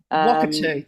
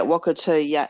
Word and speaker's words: Wakatū: Wakatū, thank you. Yeah, Wakatū, and AuOra is perfect.